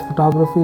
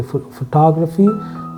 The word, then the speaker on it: photography: If you see the word photography, the person who does photography is a photographer. You will see the syllable stress slightly moving to grapher. Okay, photography, photographer.